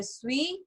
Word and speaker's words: suis: अब इसके अंदर लास्ट लेटर क्या है, एस, तो हमें इसको प्रोनाउंस नहीं करना। सो je suis, tu es, il est, elle est, nous sommes, vous êtes, ils sont, elles sont।